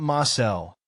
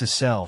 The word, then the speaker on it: Asel: It's not Marcel, it's Asel, she insists.